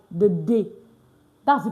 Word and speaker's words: des: D E S D is pronounced day. Yes. It's not this. It's not this. It's not the It's pronounced what? The like the day.